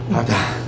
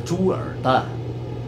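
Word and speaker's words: 猪耳蛋: 你的发音不标准，我不叫二蛋，我叫猪耳蛋，耳字念第三声。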